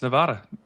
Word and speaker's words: Nevada: Like if I'm talking, for the way you, unless you're mispronouncing the name of a state like Nevada. It's Nevada.